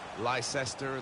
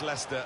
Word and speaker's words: Leicester: Premier League campaign was seeing the rest of the world try to learn how to pronounce their name ly sester ly Chester we got a lot of that than way but very much Leicester than very much the